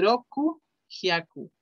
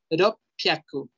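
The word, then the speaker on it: 六百: 600 no se dice roku hyaku. Roku hyaku. Iye. Es irregular. Los japoneses por alguna razón modificaron esa pronunciación a ropyaku. Ropyaku. Aquí tenemos ro. Luego tenemos a pi. Y acuérdense que esta pequeña tsu hace que la siguiente consonante se pronuncie doble. Por eso es ropyaku. Con doble P.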